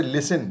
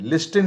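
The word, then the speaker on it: listen: हैं इसी प्रकार से लिसन लिस्टिन नहीं होता लिसन माने होता है सुनना अब इसमें भी हम लोग टी को साइलेंट कर देते हैं चुप यानी उसको हम नहीं बोलते इसी प्रकार से शड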